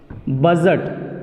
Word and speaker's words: budget: बजट जो आप लोग शुरू से सुनते आ रहे हैं, BUDGET, जबकि डी आया है, BUDGET, बजट। बजट, बजट हुआ तो डी यहाँ पे भी साइलेंट।